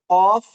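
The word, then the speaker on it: ق: ঠিক আছে, আর একবারে জিহ্বার গোড়া থেকে হবে কফ আর হলো কাফ। বলো কফ কাফ, অফ জিহ্বার গোড়া কাফ।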